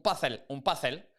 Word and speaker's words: puzzle: There was someone said something about, George, people say un puzzle con la pronunciación española de la Z. Un puzzle.